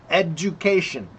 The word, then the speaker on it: education: So the du is like a ju sound. Jew like like jurro. Okay. So just say ed ju like pork. Okay. It's the same sound. education.